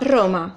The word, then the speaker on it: Roma: translation so the Italian name is but Alma Roma yeah roma Roma are right roma Roma okay